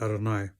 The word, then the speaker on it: Adonai: We pronounce it Adonai, Yud Yud.